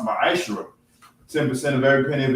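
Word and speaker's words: מעשר: Tithes, which is a commandment, you can find this in Numbers 18:21 and Malachi 3:8-10, means 10th in Hebrew, and is pronounced ma'ashra.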